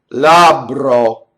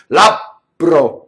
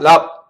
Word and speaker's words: labbro: Labbro. Notice it's double B. But notice how good Americans are doing double B. And in fact, we do it too much. So we'll stop phonation. We'll do labbro, right? You hear, oh mio babbino. But there's not that stop in phonation when an Italian does it. It's just double B. Labbro. See? Labbro. Not lab. There's none in the stop.